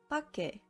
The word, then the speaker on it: 밖에: 밖에 is read as 밖에.